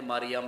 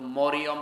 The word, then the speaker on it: মারিয়াম: কোরআনে কারীমে যেহেতু আছে এজন্য মরিয়ম রাখেন কিন্তু মরিয়ম বলবেন না গুনাহ হবে আপনার মারিয়াম কি বলা লাগবে এই শব্দটা যেহেতু